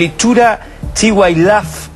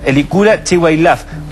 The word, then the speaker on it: Elicura Chihuailaf: al teléfono en algún momento más con el hechura chihuailaf pero quiero pronunciarlo bien elicura elicura chihuailaf gran poeta uno de las grandes pero una